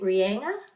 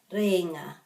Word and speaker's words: Rēinga: and also cape and this has got a macron over the e according to my pronunciation books you could say cape lenga cape ringer but it kind of comes out as reena try and get this